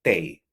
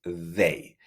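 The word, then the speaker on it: they: entre las dos barritas la pronunciación de esta palabra no es tale es ley en este caso de la th suena como una de ley de iu significa de ellos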